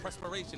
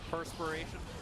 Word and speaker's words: perspiration: The prespiration. Is that how you say it? The presspiration. No. Oh perspiration. Preser.